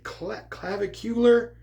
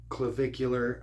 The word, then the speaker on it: Clavicular: And when I first saw that name, I was saying clavicular, but apparently clavicular. I don't know if that has to do with a clavicle or vehicular. It kind of rhymes with vehicular.